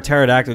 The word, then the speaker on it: pterodactyl: can't you hear a pterodactyl going to the bathroom cuz the p is silent there you go a